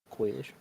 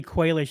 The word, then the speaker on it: Quaish: Yeah, I think it's actually Quaish. I think is his name. Not quite. I think I mispronounced it when I and then when I actually seen it spelled out and well pronunciated out, it was Quaish.